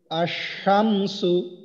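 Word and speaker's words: الشمس: সেটা হলো যে اللہ আচ্ছা এটার উচ্চারণ একজন বলেন তো ভাই ওস্তাদ এটার উচ্চারণ আশামসু তো এই যে আশামসু এইখানে দেখেন মাঝখানে লামটা বাদ গেছে এরপরে এই শিনের উপরে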